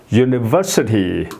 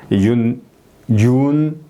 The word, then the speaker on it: university: 그 다음에 university. 여기 IT 앞에 거기에 이제 액센트가 들어간다. 예. university. 예, 이렇게 발음이 되는 거죠.